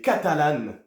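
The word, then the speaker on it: catalán: Catalunia vont s'appeler soit les catalanes accentonique sur le an donc catalan ou les catalana pour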